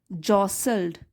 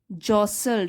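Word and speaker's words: jostled: एज the vehicle, क्योंकि जो वो गाड़ी थी या बस थी, जॉसल्ड, जॉसल्ड, इसमें टी साइलेंट है, जॉसल्ड अलोंग।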